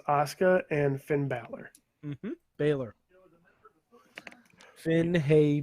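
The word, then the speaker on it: Bálor: that super cut and next to how you pronounce oscar and finn balor baylor finn haye baylor yes anyways something weird happened on youtube right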